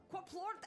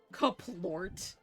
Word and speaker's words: Quaplort: Quaplort and goodbye. You said it wrong each and every time. Caplort.